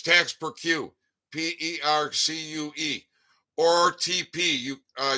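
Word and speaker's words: taxe perçue: service service desk posties tax procure and tax is spelled t-a-x-e and it's tax per queue p-e-r-c-u-e or TP you uh you can abbreviate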